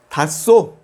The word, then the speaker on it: 탔어: 탔어, 탔어. h más s, lo pronunciamos como s.